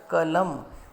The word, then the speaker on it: कलम: इसी प्रकार दूसरा उदाहरण देखिए, क हलंत जमा अ जमा ल हलंत जमा अ जमा म हलंत जमा अ, ये बन गया कलम।